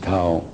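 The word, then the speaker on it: Thao: T-H-A-O, Tao. That's her name. You can pronounce whatever you want, but I pronounce it Tao.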